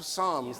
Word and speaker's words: Psalms: wrote to God called Psalms. The ps is silent, I know.